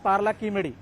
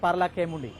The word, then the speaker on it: Paralakhemundi: হচ্ছি ইংরেজি দুর্বল নাই আপনারা যদি তেলেগু ভাষার যদি দেখিবে উচ্চারণ পারলা কিমেডি নট পারলা খেমুন্ডি ইয়ে ঠিক তবে পার্লা